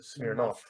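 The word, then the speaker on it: Smirnov: in russian it's spelled smear nov but you pronounce it smirnoff yeah yeah i've noticed but the thing is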